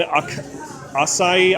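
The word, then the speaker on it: açaí: Blueberry and acai. I don't know how to pronounce that. It's a gourmet lollipop. I think it's acai.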